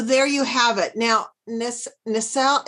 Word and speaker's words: nacelle: you have it now nacelle is spelled n-a-c-e-l-l-e many yes yeah the cells like you know in the cell okay and they're so